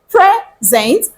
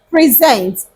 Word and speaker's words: present: pronounce those two words I pronounce this as present and I pronounce this as present what does the first one mean the first